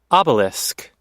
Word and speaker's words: obelisk: right Obelisk is that how you say it Obelisk yeah this is actually the one that's in